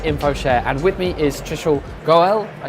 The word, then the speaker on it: Trishul Goel: Welcome to this special episode of HiCash at InfoShare, and with me is Trishul Goel. I said that right? Perfectly, yeah. Oh, my pronunciation is fantastic.